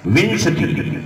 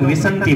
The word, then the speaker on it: विंशति: विंशति। कुछ लोग विसंति बोलते हैं।